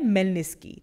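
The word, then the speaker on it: Khmelnytskyi: अब देखो स्पेलिंग आप देखोगे तो के से शुरू होता है, KHMELNYTSKYE, इसे इस तरह प्रोनाउंस नहीं करते, इसे बोलते हैं मेलनिस्की, ठीक है।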